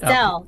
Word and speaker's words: Stelle: Stelle. Stelle, okay. Don't have to have the second syllable there.